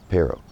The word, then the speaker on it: pero: That R in the middle of the word is more just like a T, like a tap on the on the roof of your mouth. That's it. Um it could be T. Some people say more like D.